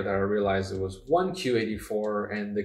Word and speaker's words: 1Q84: It wasn't until later that I realized it was 1Q84, and the Q is just a play on words in Japanese. The pronunciation Q means 9 in Japanese, and so it's really 1984.